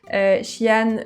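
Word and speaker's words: Xi'an: Donc j'ai noté trois villes, attention à la prononciation. Shian, Shengdu et Chong King.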